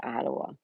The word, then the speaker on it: Ottawa: Many pronounce Ottawa, Ottawa. It's Ottawa. I was timed out by Nightbot in the channel for spamming the members' emojis.